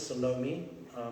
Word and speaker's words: Salome: Her name was Salome. The classical pronunciation would be Salome, but in South Africa we tend to stomp all the vowels quite flat.